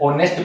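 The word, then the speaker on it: honest: पर यहां पे ऑनेस्ट को पढ़ते हैं तो एच क्या है? साइलेंट रहता है। ऑनेस्ट पढ़ा जाता है। स्वर का साउंड आता है।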